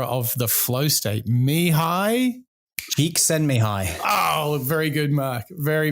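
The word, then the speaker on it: Csikszentmihalyi: discoverer and founder of the flow state mihai geek send me high oh very good mark very very you can't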